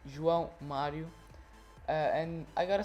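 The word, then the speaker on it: João Mário: have soooo Mario and it's not John Mario ok I know it's hard to pronounce but now you know it's drunk Mario and I gotta say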